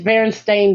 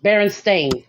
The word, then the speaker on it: Berenstain: can't believe that because i never even pronounced it bears thing like it was always bears thing there like i can't even yeah i know it's very apparently it's berenstain bears baron stain bears and i was like